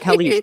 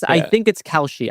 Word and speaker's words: Kalshi: See, I used to call it Kalish. This is the problem. I think it's Kalshi. I think Kalshi is correct.